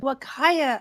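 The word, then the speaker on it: Huacaya: and started with 4 pregnant, I can't even pronounce that. What is that word? Wakaya alpacas.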